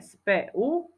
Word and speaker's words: spev: tam u lev napríklad Ďalšie slovo spev čítame SPU spev ale píšeme spev slovíčko domov čítame domov